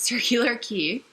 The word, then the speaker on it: Circular Quay: got to circular key which is spelt like circular quay but I learned that it's circular key and so we got